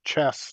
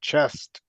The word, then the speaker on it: chess: I was surprised to see that the game was called Chess, not Chest. Because I had no clue. I always thought it was chest because the way people talk or whatever, And then when I went pronunciation wise, it's chess.